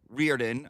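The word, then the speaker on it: O'Riordan: Dolores Reardon, I believe, is the correct pronunciation.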